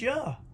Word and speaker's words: Jah: and rejoice before him this same name of god jaw makes the same your sound as the name of god did in the prophets elijah the and in hallelujah which is yeah it's that simple on top of that the same yeah sound is in all the names ending in i-a-h or y-a-h and it's also pronounced you as in isaiah iah jeremiah iah all